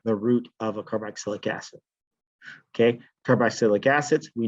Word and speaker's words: carboxylic: I'll try to pronounce it a little bit better than carboxylic. Carbox, like box, boxylic.